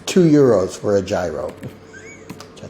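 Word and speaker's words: gyros: came back from Greece and she's like it's pronounced Euros yeah it's two Euros for a gyro which I thought was really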